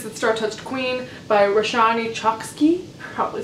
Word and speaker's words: Chokshi: Also, I mispronounced her last name. It's Chokshi. Chokshi.